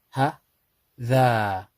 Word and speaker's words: هذا: It's read but not pronounced. So if we was to read this, this actually says ha, dha, hadha, hadha.